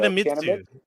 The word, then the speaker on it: Kanemitsu: It's Kanemitish. Kanamich? I wasn't going to try and pronounce it, but you pushed me. So, Kanemitsu. Kanemitsu. Oh, that's a U.